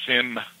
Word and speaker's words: sim: You don't sound the M. It's almost like an N, but you don't really sound. It just dies, you know. You says S-I-M. The M is almost, how do you say that? Fades away? Fades away, exactly.